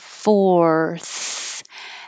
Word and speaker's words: fourth: that's a big movement fourth and you should finish with the f only the airflow if you sound like an s like force that means your tongue is behind your teeth and it needs to be further forward go forth fourths push